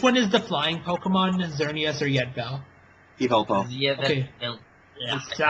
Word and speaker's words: Xerneas: Which one is the flying Pokemon, Xerneas or Yetvel? Yveltal. Okay. Yeah, I can't fucking pronounce it either. X's make the Z sound.